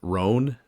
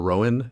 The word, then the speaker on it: Rohan: The main guy, his name is Roan or Rowan. It's spelled like Rohan, like from Lord of the Rings.